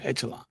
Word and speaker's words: echelon: I can relate to what you're saying, but I think that the elite class in America are those that's in the upper echelon.